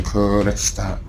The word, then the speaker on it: Kurdistan: So I gotta make sure I roll my R when I say Kurdistan. So it's Kurdistan. It's not Kurdistan.